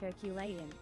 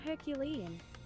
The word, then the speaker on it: Herculean: Neo, I love you, but the nerd in me feels compelled to inform you it's pronounced Herculean, not Herculean.